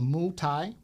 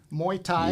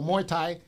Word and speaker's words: Muay Thai: martial arts instructor of mu Thai am I pronouncing that right yeah there's an A in there it's Moy Muay Thai yeah yeah there we go Muay Thai thank you for correcting